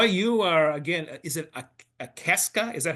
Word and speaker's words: Akaska: Roy, you are, again, is it Akaska. Is that how you pronounce that Yep. town? Yep. Everybody thinks it's Alaska, but it's Oh, Akaska. Very Akaska.